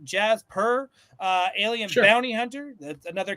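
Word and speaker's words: Djas Puhr: era right this is I'm gonna say the D is silent Jazz purr uh Alien Bounty Hunter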